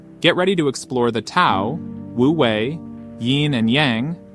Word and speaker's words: Tao: So whether it's spelled with a T or a D, it's pronounced Tao.